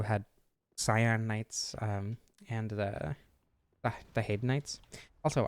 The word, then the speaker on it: Haid: Also, I always pronounced it Hyde, but apparently the Crestfallen guy, I don't remember his name, Crestfallen Warrior or whatever, specifically says Haid, so I guess I'll be saying Haid from now on.